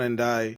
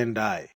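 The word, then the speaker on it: Ndiaye: But ওর নাম হচ্ছে NDI. তুমি NDA বললে তো হবে না। সবকিছু তো বিজনেস ডিলিং এ আসলে তো হবে না। তুমি তো সবকিছু তো মানে নন ডিসক্লোজার এগ্রিমেন্ট দিয়ে দিবা। ও হচ্ছে ওরা বলে NDI, তুমি NDI NDI হবে, NDA না।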